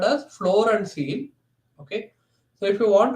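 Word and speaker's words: ceil: really like instead of floor we have a seal function IL so what is the result of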